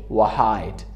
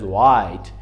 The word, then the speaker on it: white: we cannot say white، it is white.